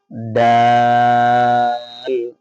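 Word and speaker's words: دال: নক্তা থাকলে দাল তাহলে উচ্চারণ খেয়াল করি ডাল ডাল একটু শক্ত হরফ বাকি জাল কিন্তু একদম নরম বলি জিবার আগা উপরে সামনের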